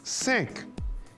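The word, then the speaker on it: cinq: 5 se dice 5 y se escribe C-I-N-Q.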